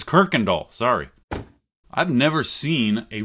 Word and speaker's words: Kuykendall: got seven things to share Roy's name is pronounced Kirkendall not kaikendahl I said kaikendahl in my first video but it's Kirkendall sorry I've never seen a real original MK